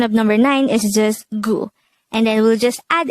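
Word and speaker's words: 구: the korean version of number nine is just gu and then we'll just add it to the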